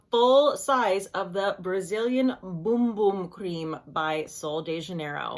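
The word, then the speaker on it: Bum Bum: I purchased the full size of the Brazilian boom boom cream by Sol de Janeiro now I've been pronouncing this bumbum cream and then people keep on commenting and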